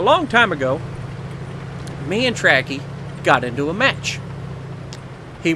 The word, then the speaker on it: Ptracki: Starts with a P, but it's Ptracki, I believe.